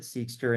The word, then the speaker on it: Seqster: why we actually started seekster. And so if you look at the the E in seekster, there's a purple little line above the E because it's seer, and that's how it's pronunciated.